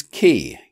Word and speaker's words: quay: An exception is key, Q-U-A-Y, which is pronounced exactly the same as key, K-E-Y.